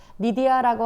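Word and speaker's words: Lydia: 그 이름은 아 여기 우리 성경에는 루디아라고 되어 있고 영어 발음 리디아입니다. 리디아라고 하는 그 두아디아라에 있는 여성이었는데요.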